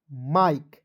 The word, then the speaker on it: Mike: उसके बाद देखिए MIKE, तो देखिए एम का म हो जाएगा, IKE का उच्चारण दोस्तों आई के रूप में करना है, माइक। ठीक है? माइक हो जाएगा।